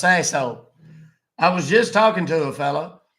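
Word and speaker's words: Sasohl: right and last name it's s a s o h l it's pronounced sasshole I was just talking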